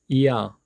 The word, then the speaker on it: ㅑ: 첫 번째 모음 이를 보시면서 우리의 입모양은 이를 발음하기 위한 입모양을 만드는 겁니다. 그리고 두 번째 모음 아의 입모양으로 빠르게 연결해서 발음을 하시면 됩니다. 첫 번째 이, 두 번째 아, 이아, 이야, 이야, 이야, 이야, 이야, 이야.